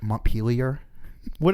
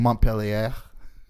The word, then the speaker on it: Montpelier: Parentheses, Johnny, the capital of Vermont is pronounced Montpelier. How did I say it? I'm sure we've both have been saying Montpellier. Montpellier? But I don't know if Montpelier. That's how they want us to say it.